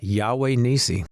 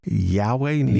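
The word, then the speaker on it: Yahweh Nissi: your album here, which is, you want to pronounce that for me? Yeah, Yahweh Nisi. Yahweh Nisi. Yahweh Nisi.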